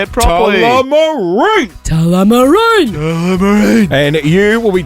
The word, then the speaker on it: Tullamarine: Tullamarine!